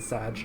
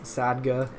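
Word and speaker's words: saga: like GIF not GIF where people are going to be like you're saying it wrong it's sagga which I agree it is sagga but um it it's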